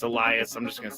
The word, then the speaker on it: Elias: It's not Elias. It's Elias.